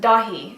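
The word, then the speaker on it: Dáithí: like D or tty but in Irish it's pronounced dahi so that's how you say it it looks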